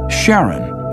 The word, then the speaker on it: Charon: in greek mythology but preferred to pronounce it sharon more like his wife's name charlene from the motions of pluto and charon astronomers could work out